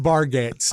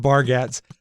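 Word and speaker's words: Bargatze: a comic name uh Nate bargates I think it's pronounced barats and uh he talks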